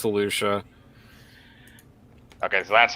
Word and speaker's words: Felucia: years star killer murders or she's on uh fallujah i think yeah it's felucia okay so that's how you pronounce it the uh yeah felucia or [